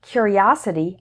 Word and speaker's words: curiosity: you before the S the word stress is also different he was a curious boy the strong syllable is cure his curiosity got him into trouble the strong syllable is us error number 141 is